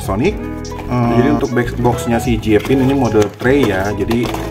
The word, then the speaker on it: Jiepin: ya yang masuk Indonesia mereknya jpin jpin kan bacanya Oke jpin kita lihat